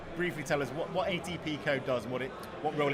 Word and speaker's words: ATPCO: Chris Phillips who's the chief commercial officer at atpco that's how you say it um and it's